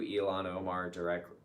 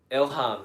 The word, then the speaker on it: Ilhan: Yeah, she was banned because she sent a tweet out to Elon Omar directly that said Now I don't remember how to say it. Elon? that her Ilhan. That's right. Why are we saying Elon?